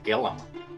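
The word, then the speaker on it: Gilliam: name in the gorge apparently it is gillum county the eye is apparently silent so all of these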